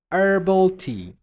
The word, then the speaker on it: herbal: And then we have herbal tea. Don't say herbal tea. Say herbal tea. It's like ER, not H. You don't pronounce the H here.